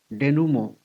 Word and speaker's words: denouement: The next word is denouement. It has French origin. Pronunciation is somewhat like denouement, the final outcome.